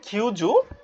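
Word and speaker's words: 九十: আগে 90 বলতে হবে কিউজু তারপর পরবর্তীতে কি যুক্ত হবে এখানে আরেকটা কিউ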